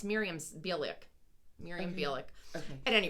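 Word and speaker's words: Mayim Bialik: was in, but I can't pronounce her name either. That doesn't. Miriam. It's Miriam Bialik.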